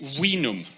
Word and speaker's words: vinum: And they spell it like this, but they pronounced it vinum, right?